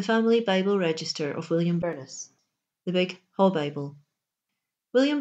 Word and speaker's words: Burnes: months and 22 days the family name in concordance is invariably spelled b-u-r-n-e-s unpronounced in the north of Scotland in two syllables many branches of the